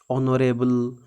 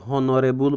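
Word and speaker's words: honorable: देखिले आमे ऑनरेबल देखिले एटी एच टा साइलेंट हो जाउची बा म्यूट हो जाउची एही भली क्षेत्र रे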